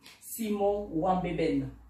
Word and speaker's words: Simon Nwanbeben: Donc, Simon Wambeben. Est-ce que la prononciation est bonne?